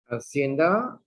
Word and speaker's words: hacienda: Hacienda, that's hacienda, it's Mexican, Spanish.